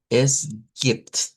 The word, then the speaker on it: es gibt: Eso casi se pronuncia como está ahí, vean, no hay mucho cambio, a excepción que si nos ponemos muy específicos, esta es una E abierta y no es como la E del español, y esta es una I corta.